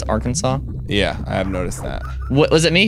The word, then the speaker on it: Arkansas: Tex Arkana Tex Archana have you ever noticed that Kansas is Kansas but Arkin Arkansas is spelled like Arkansas but it's Arkansas yeah what was it